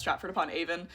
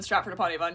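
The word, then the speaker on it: Stratford-upon-Avon: in my comment section that Statford upon Avon is only pronounced Stratford upon a not true. Uh, people who live in Stratford upon Avon use both pronunciations.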